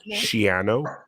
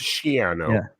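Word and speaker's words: Schiano: incorrectly or his name it's actually shano piano I heard that I heard that rhymes with piano it's shano not shano I've been mispronouncing I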